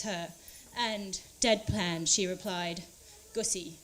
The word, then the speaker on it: Gusi: At Morgan's wedding, the celebrant asked Mum for her name so that he could introduce her, and, deadpan, she replied, Gusi, it rhymes with pussy, before striding on stage.